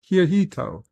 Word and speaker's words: Hirohito: Hirohito. Thank you. You see 54.5 Axis Radio even puts in the pronunciation for me.